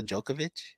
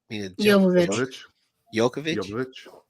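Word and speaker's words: Jovovich: um they had what's her name mil how pronounce her name Mila jokovic yovic yovic that's what I said um she wears like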